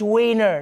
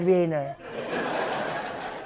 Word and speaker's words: wiener: And he demanded that Germany stop pronouncing their W's like V's. You're making Wiener Schnitzel sound way less funny like that. It's Wiener, not Wiener.